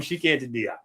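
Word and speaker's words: Cheikh Anta Diop: I'm chic antidop. I know that's not the right pronunciation, but that's widely accepted pronunciation.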